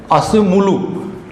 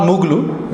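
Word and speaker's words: Acemoğlu: the Daren it's it's called Daren asum mulu not muglu Z is silent he is a Turkish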